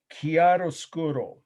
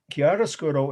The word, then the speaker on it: chiaroscuro: once this word the last definition of tonight chiaroscuro and that is a long italian word so here we go i'll spell it slowly once c h i a r